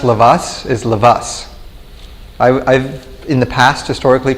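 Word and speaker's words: Lovász: an s not a lavash with a sound with an s at the end and that was uh that's the official hungarian pronunciation so if you're interested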